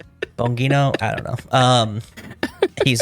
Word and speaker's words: Bongino: And not only that, but you and your deputy director Dan uh I always want to just pronounce his last name like the sound effect. Boing, but it's like Bongino or whatever. Bongino, I don't know.